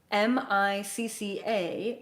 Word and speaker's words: Micca: The translation of her name into English would be Micca, M-I-C-C-A, pronounced Micca, M-E-E-K-A.